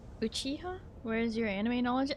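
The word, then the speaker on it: Uchiha: It's pronounced Uchiah.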